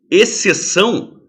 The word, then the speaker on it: exceção: diferença de exclamar explanar o X é pronunciado exceção a cara como se x não existisse tá legal é